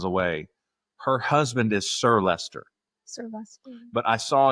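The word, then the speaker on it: Leicester: Uh, I just wanted to confirm Adam is correct about the pronunciation of Lester.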